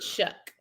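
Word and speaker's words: Shough: right Tyler Shaw is there Tyler Shaw there shuck it's pronounced shuck is shuck oh yes it's slated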